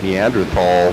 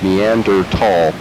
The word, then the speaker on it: Neanderthal: and i pronounced it neanderthal for a long time until i read the correct pronunciation and it's neander tall and the h is silent which is annoying there's so many silent